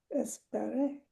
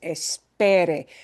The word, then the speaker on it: esperé: pronunciation really matters and putting the stress in the right place truly, truly matters because espere has the same sounds, but a different stress syllable.